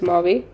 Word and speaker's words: mauve: then get the medium Mau color soor but the brand name is Mau so spelling don't get confused but we pronounce this as Mau let's take the shade